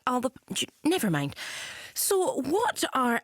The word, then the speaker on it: Alba: party the Alba party it's gelic it's actually pronounced Alba never mind so what are our plans to